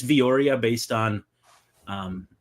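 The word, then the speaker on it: Villoria: Vori, I'm guessing it's Vioria based on um how that usually sounds how Spanish names are usually pronounced.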